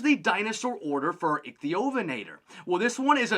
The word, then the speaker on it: Ichthyovenator: Now, I've seen this name pronounced a few different ways, but I really like to say the Ichthyovenator.